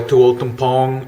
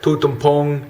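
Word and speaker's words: Toul Tom Poung: checking out areas like Tolkien pong or I'm sorry put'em poem is how the how the command people say it like TTP that's the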